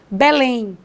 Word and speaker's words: Belém: tem última sílaba tônica exemplo de palavra oxítona Belém eu não digo que moro em Belém digo que mora em Belém ponho força na última sílaba café é a palavra